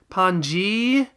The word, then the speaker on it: Panzy: not exactly Panzy itself, because the Japanese approximation of Panzy has an extended vowel sound at the end, Panji, and this has cut that.